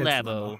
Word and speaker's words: Labo: So, did we determine how it's pronounced? Is it Labo? It is Nintendo Labo. It's Labo.